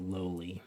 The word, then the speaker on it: Lolli: Today we're going to look at the lolli's mate. I guess you could pronounce it lowly, but lolli sounds nicer somehow.